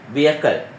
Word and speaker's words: vehicle: හැබැයි vehicle කියලා කියන්නේ හරි pronunciation එකක් නෙවෙයි. ඒක වැරදි. ඒ උච්චාරණය කිරීම වැරදි. එහෙනම් හරි වචනේ vehicle.